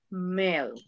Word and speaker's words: milk: Dice, pero ahí dice I, sí, pero la pronunciación es milk, con E. El gringo le va a entender, pero la pronunciación correcta es milk.